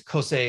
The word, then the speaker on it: CoSE: the heck it is cosei is how it's pronounced so I'm going to